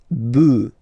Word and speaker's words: bœufs: just add this S, but then pronunciation changes quite much, because you get des bœufs, all right, un bœuf, des bœufs, all right.